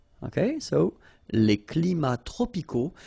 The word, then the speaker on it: tropicaux: So you can see that even if we've got the plural form here, S, we don't pronounce the S, and then we don't pronounce the T either. Les climats tropicaux. Final X not pronounced.